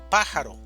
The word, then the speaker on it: pájaro: Pájaro, división silábica, pájaro, sílaba tónica, pa, pájaro.